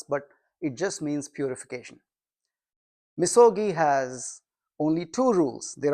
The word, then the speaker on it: misogi: Misogi. We have a couple of Japanese here. Perhaps that's not the right pronunciation, but I don't know. I just say misogi. It is. Okay. We got a Japanese approval right there.